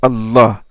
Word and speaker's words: Allah: Mais le I a été retranché, a été enlevé par souci d'allègement dans la prononciation. C'est comme une sorte d'élision en français. Donc, au lieu de dire Al-Ilah, les Arabes disent Allah. Al-Ilah vient du verbe Aliha.